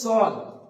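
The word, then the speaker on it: ص: তারপরে হচ্ছে সদ, সদ উচ্চারণ করার সময় আমরা খেয়াল রাখবো সদটা হবে মাড়ির দাঁতের সঙ্গে জিভের একটা কিনারা লাগিয়ে দিতে হবে। আপনি প্রথমে জিভের কিনারাটা মাড়ির দাঁতের সঙ্গে লাগিয়ে দিয়ে যেভাবে উচ্চারিত হবে সেভাবে বলুন সদ, সদ।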